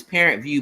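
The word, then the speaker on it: ParentVUE: called parent view it's it's parent view but it view is spelled v u e oh okay yeah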